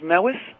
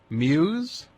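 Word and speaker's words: Mews: spell that for me m e WS Muse is that how you say it m Newbridge M WS Muse I've been saying it meis all through my entire life well it's Muse oh my god oh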